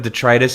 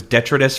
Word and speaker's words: detritus: I had instead of detritus, it was detrous for a long time for me.